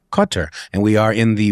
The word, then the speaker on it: Qatar: in the Western world, it's okay to say Qatar. People know what you're talking about. The correct pronunciation, from what I understand, is something more like Qatar. Qatar.